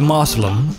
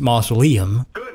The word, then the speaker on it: mausoleum: Let's do the Moslem, because I enjoy the Moslems. Even though they are pronounced Mausoleum, I do enjoy them.